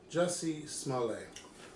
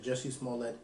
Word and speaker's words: Jussie Smollett: we got those two jessie smalley you didn't say it right though you should say jesse smallett and taraji yes and